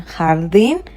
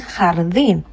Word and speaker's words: jardín: En el jardín, so we are saying jardín, not jardín, because the J gives us the sound J.